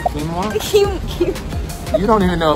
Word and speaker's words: quinoa: Quinoa?